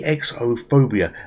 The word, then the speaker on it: Exophobia: welcome to X phobia I believe it's pronounced you know it's e EXO phobia and it's it's a